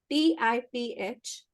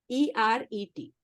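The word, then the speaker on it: תפארת: which is actually the sun, which is called Tiferet. TIPHERET. Repeat. TIPHERET. ठीक है. Tiffer ET. TIPHERET. मतलब basically Tiferet बोलते हैं इसको. Tiferet is beauty and harmony. Tiferet is sun's energy, okay?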